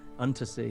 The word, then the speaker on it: Unterzee: Is that the correct pronunciation? Untersea, yeah.